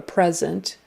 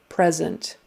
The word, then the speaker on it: present: It is spelled the same way, but you say it present. So you change the pre to a pre and put the accent on the second syllable.